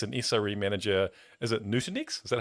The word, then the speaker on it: Nutanix: Is it Nutanix? Is that how you say it? That's correct. Yeah, at Nutanix, where he started his career back in 2016.